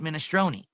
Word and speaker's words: minestrone: It's not minestrone.